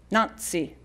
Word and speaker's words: Nancy: Given that Nancy and her companions were Cockneys, they all pronounced her name Nazi.